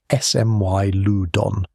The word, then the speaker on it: Smilodon: Smilodon fatalis, pronounced Smilodon, ran 600 to 900 lb, heavier and far